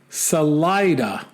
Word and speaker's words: Salida: and then he says salida is actually pronounced salida not to be confused with saliva i added that part